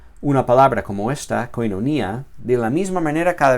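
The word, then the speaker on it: κοινωνία: diferente cada vez, si alguna vez digo koinonia, luego koinonia, luego koinonia, luego koinonia, dejando caer el golpe de voz sobre sílabas diferentes cada vez, me será muy difícil aprender bien esta palabra y reconocerla en la lectura del texto. En cambio, si la pronuncio de la misma manera siempre, koinonia, me será más fácil.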